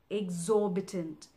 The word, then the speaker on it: exorbitant: what it means now exorbitant it basically has four syllables X or big tent exorbitant the stress is in the second syllable or exorbitant exorbitant say it with me